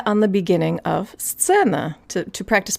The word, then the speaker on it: сцена: So if we think about the phrase best seen, it's actually a lot easier to say than сцена, and here's why.